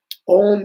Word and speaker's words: om: Um om is one syllable uh and is constructed together three letters a u and ma a ma put together is.